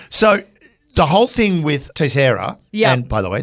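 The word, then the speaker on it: Teixeira: the whole thing with tesera and by the way that's a Portuguese name I looked it up and that is how you pronounce it people have been calling him takera T but it's t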